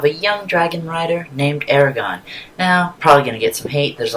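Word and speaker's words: Eragon: young dragon rider named Aragon. Now, probably gonna get some hate. There's a lot of debate over his name. It's how it's pronounced. I like Aragon, that's how they pronounced it in the movie.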